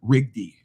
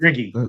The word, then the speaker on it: Rigby: The other guy that I thought had played well, and I always say his name wrong, was Cam Rigby, correct? Riggy, the freshman's been great.